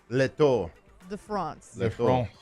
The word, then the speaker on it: Le Tour de France: Le Tour De France.